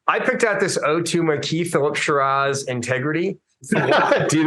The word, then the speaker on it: Marquis: And by the way, the guy's name is Sparky Marquis. Most people don't know this, but that's how his name's actually pronounced.